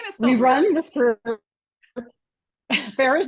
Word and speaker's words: Farrar: we run this group Farah's name is spelled weird but it is Farah um and we run